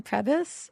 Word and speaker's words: Prebys: Is that how it's pronounced, Kristen? Prebys?